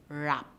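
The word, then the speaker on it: wrap: word rap rap rap it begins with w but do we hear that sound do we hear that sound that is produced by the letter w no the first sound we hear is and we know that r it comes from the letter r so rap has the silent w so boys and girls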